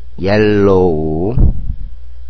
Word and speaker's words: yellow: yes, yellow. 여기서 L이 두 개가 있기 때문에 yellow가 되는 게 아니고 발음상 양쪽으로 붙기 때문에 yellow가 되는 겁니다. 혼동하지 마세요.